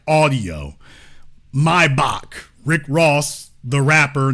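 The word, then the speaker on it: Maybach: from sound like audio mybach Rick Ross the rapper not the drug dealer has forever messed that up it's not mayback the man's name was vilim mybach the CH is pronounced like a k so anyway anemology lesson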